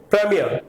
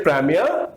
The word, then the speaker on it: premier: The word is now British will say premier. British will say premier and Americans will say premier.